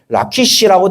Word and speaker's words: 라기스: 그리고 13절에 예를 하나 더 들면 라기스 주민아 너는 줌마의 병거를 메울지어다. 이렇게 돼 있거든요.여 그 그 말 속에서 라기스라는 지명이 돼 있죠. 그 라기스가 지금 히브리어상 발음으로 라키시라고 되어 있고 줌마를 보시면 레쿠시라고 얘기를